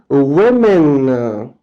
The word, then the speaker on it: women: And you change it to women. Women, okay? A is changed to e. And the pronunciation is also different now. Woman, one woman. And women, women, okay?